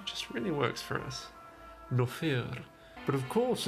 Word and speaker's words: Nofire: Or, you know, in correct Argonian pronunciation, that's actually Nofire. Nofire. Which also sounds like no fear, which just really works for us. Nofire.